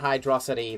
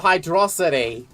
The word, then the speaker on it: Hydrocity: Because it's a combination of Hydro and Velocity, because it's Sonic the Hedgehog.